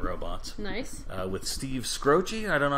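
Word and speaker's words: Skroce: really his name okay how would you pronounce s-k-r-o-c-e probably scross scross not scrotchy yeah i don't think it's scroochie what what do they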